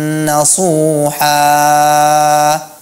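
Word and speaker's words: نصوحا: Kata nasuha dibaca itu mat iwat, seharusnya dia seperti mat asli membacanya. Tubu ilallahi taubatan nasuha. Udah, cukup seperti itu saja. Tidak perlu dipanjangkan lebih daripada dua harakat. Tubu ilallahi taubatan nasuha.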